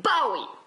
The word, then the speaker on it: Bowie: figure de david david bowie naïve et qu'ils se prononceraient d'ailleurs plutôt david bowie c'est d'ailleurs son nom bah oui bah oui il vient d'un d'une marque d'une marque de couteau est depuis toujours je